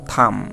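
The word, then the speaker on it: thumb: আবার দেখো থাম, এই THUM, থাম, দেখো এই যে বি উচ্চারিত হবে না, তার অর্থ হচ্ছে হাতের বুড়ো আঙ্গুল।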